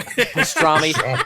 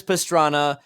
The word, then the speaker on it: Pastrana: just hit the trouble yeah pastrami sorry that's just me being an American and mispronouncing his Italian last name Travis Pastrana had just hit the